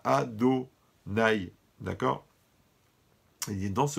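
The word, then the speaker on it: Adonai: vav et le he, mais on doit prononcer ado. Quand on fait la bracha, on dit baruch ata ado nai, d'accord.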